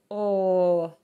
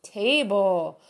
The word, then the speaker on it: table: example of a word that uses that okay table table and handle okay now as you're trying